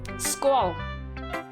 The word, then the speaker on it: skål: Ray, skål.